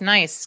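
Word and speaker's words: gneiss: It's pronounced that way but doesn't look that way. Yeah. G N E I S S. Yep. Locking in with nice.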